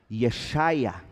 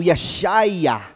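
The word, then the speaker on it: ישעיהו: nome do profeta isaías em hebraico ea chaia isaías significa precisamente o seguinte a salvação é de avé ea ver é salvação esse é o nome de isaías quando o nome de isaías era pronunciado ea chaia o que se ouvia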